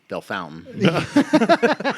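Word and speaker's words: Bellefontaine: might as well be which is actually pronounced bell fountain ble fontiny the faculty and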